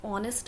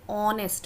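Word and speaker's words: honest: Similarly he इज एन ऑनेस्ट मैन, ओ का sound देता है, एच साइलेंट है, ऑनेस्ट मैन.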